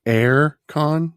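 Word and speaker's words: AireCon: Tell me, you're saying Aircon? Yes, how I pronounce it. AIRE Con. Okay. How do you pronounce it? No, that's right.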